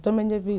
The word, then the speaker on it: Domenyevi: In the Upper West region, we use the falling tune, and then understanding the Volta region, they use the rising tune.